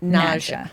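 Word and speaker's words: Nadja: And you pronounce it Naja. Naja Saiage.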